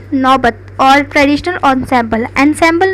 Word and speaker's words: ensemble: ensemble नहीं कहेंगे इसको, ensemble प्रोनाउंस करते हैं, बिकॉज यहाँ पे लिखा भी है ensemble प्रोनाउंस।